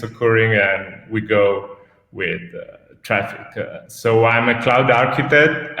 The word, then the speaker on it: Traefik: Well, I had wondered at the beginning, it was like kind of Latin where A and E are pronounced E, but that's nothing like that.